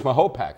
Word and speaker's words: Mahopac: No, it's Mahopac actually. Uh that's what I was told. And I like to pronounce things.